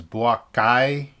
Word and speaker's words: Boakai: Joseph Boakai and George Weah. And George Weah, I think this is going to be his third term. All right, so I have to make a correction. It's Boakai and George Weah.